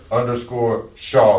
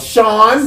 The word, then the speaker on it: Shaw: h a w w scissor sha not sha cuz people still to this day I'll be like what's your name they like sh Sean see that's why I